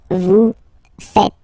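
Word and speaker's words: vous faites: uh but then no no no no it's vu fet vu fet okay so remember final s here is not pronounced and then this is not pronounced either so fet fat V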